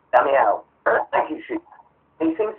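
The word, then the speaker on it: Damião: We seem to have been linked with Leandro Diamo for, or however you pronounce his surname, I'm not certain. Damiao. And he's Damiao.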